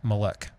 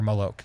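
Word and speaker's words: Moloch: the demon pagan god malik or malok depending how you pronounce or spell it and while this was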